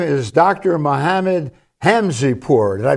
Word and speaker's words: Hamzepour: Mohamed Hamzeh poor did I pronounce that right and yes Joe may I